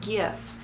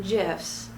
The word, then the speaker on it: GIF: not giraffe --ax interchange format so it is gif and even though the man who invented it call them gifs that does not make him right all right